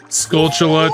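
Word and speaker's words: Skulltula: Scultula tokens. It's technically how it's pronounced.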